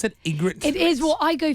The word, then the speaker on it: Ygritte: it Rose is it how you pronounce it Ygritte it is what I go for Ygritte it is a tough pronunciation yeah weird spelling well thanks for coming